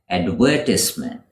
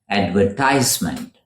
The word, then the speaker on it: advertisement: This is the British pronunciation, advertisement. In America, they would pronounce it as advertisement. Advertisement in British English, advertisement in American English.